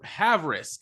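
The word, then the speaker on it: Havrisik: their practice squad Chase McLaughlin and Lucas have have risk I I want to pronounce that name right haverisk okay haveris this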